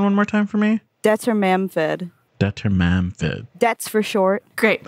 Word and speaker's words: Dwarven: What's the author pronunciation one more time for me? Dwarven.